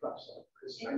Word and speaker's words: Prescott: Okay, so a motion's been made and second that the applicant, Nancy A., I pronounce it Prescott. That's correct. That is correct.